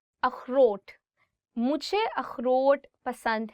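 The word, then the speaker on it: اخروٹ: अखरोट, walnut. अखरोट. So this word khe, it also comes from your, I would say like throat. So you'll really have to do is like अखरोट.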